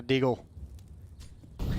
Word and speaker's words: deagle: I got a deagle. It's pronounced Deagle.